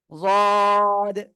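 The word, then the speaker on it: ضاد: প্রথমে ঠিক আছে এটা ভাই খেয়াল রাখতে হবে জাদ ঠিক আছে ওকে সবাই একসাথে উচ্চারণ করেন কয় আলিফ টান হুজুর তিন আলিফ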